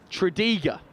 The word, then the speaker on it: Tredegar: I've just been told from down on the touchline that I've been pronouncing the winning school, their name wrong. Tredegar from Abergavenny. There we go. Sorry to all you Tredegar fans out there.